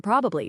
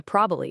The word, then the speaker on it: probably: We all shorten probably to probably in conversation.